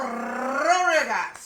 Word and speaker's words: Rodriguez: Leo Rodriguez is here. You have to roll your R's when you say Leo Rodriguez.